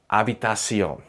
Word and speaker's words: habitación: In Spanish, the letter H is completely silent. Not sometimes, not only on weekdays, always. Hombro, hoy, hacer, habitación.